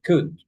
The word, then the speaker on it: could: And here you don't pronounce the L. You say could.